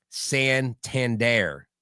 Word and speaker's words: Santander: Anthony Santander. I just said it. See, I didn't say R.